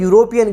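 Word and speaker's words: European: यूरोपीय ही इसे अन यूरोपियन क्या आएगा यूरोपीय की स्पेलिंग होते हैं ए यू आर ओ लेकिन हम बोल रहे हैं यूरोपीय तो यहां पे भी अन आएगा यूरोपियन ध्यान देना है नॉर्मली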